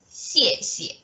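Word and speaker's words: 谢谢: These are two very they're the same pronunciation. You have to just repeat it, 谢谢. But for the first one, you may want to give it a little bit effort, 谢.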